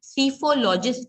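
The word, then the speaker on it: psephologist: हम पढ़ रहे हैं पी साइलेंट है इसलिए उसे हम सी फो लॉजिस्ट के नाम से पुकारते हैं सफोलो जिस्ट वो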